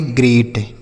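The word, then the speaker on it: great: और इ ए का उच्चारण यहां पे ए के रूप में होगा। किसके रूप में होगा? ए और टी से ट। इसे हम पढ़ेंगे ग्रेट। क्या पढ़ेंगे मेरे भाई?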